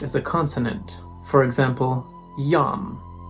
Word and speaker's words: iam: For example, yam. This is pronounced yam, not Iam.